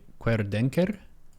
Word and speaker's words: Querdenker: And I think the pronunciation correction would be, chat can correct me, querdenker. Okay. Let me see. I would trust your judgment over mine on that. As in query, and denker as in denker, which I guess we